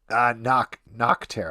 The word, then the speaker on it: Nocterra: Don't pronounce it weird. Nocterra.